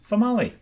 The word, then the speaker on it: Famali: Famali. Female. Rhymes with tamale.